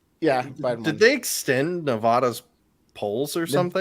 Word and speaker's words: Nevada: in the last election right did they extend Nevada's polls or something it's Nevada please say it